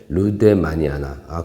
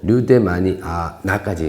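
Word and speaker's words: lueddemanniana: 그리고 한 가지 정정할 게 저도 맨날 부를 때 루데마니아 그러는데 이게 스펠링이 보면 LUEDDEMAN은 IANA 이렇게 돼 있어갖고 루데마니아나까지 읽어주는 게 맞습니다. 루데마니아나. 근데 우리 보통 할 때 카틀리아 루데마니아 이렇게 하는데 사실 루데마니아나라고 하는 게 맞다고 하네요.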